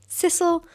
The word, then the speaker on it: sisal: And they were like, sisal? And I was like, sisal? Is that how you say it? And they're like, well, we say sisal, but sisal, sisal. So yeah, I have been saying it wrong, but maybe some places say sisal. I think sisal sounds cuter.